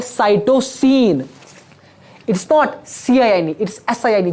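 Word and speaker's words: cytosine: I mean कि मतलब कैसे प्रोनाउंस करना है इसको? साइटोसिन, साइटोसिन।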